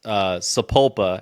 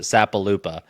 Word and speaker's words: Sapulpa: only done it one time on purpose, is when I pronounced Sapulpa and I pronounced it Sapalupa, which I told people at the end of the video, like, hey, I did that on Yeah, purpose.